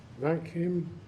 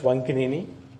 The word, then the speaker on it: Vankinini: Vankim? I'm sorry, if I did not pronounce it. Help me out. My name is Vankinini.